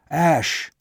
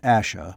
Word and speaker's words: Ash: return to the hill ash not asha but ash ross though sure of